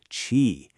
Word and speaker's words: QI: You have to pronounce it chi.